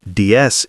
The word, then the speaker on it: DS: Its name DS, pronounced DS in French, meaning goddess, was perfectly chosen.